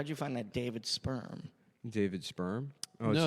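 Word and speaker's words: Spirm: Is it a real estate agent named David Sperm, and Sperm is spelled S-P-I-R-M.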